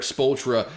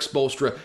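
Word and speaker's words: Spoelstra: the NBA it's Eric spultra uh he's coaching his ass off in Miami right now spolster by the way totally butchered that last name in the first uh attempt But Eric bolstra coaching his ass off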